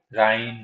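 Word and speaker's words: Rhine: ठीक है, या फिर सीन रिवर बोल सकते हैं, प्रोनाउंसिएट राइन सीन।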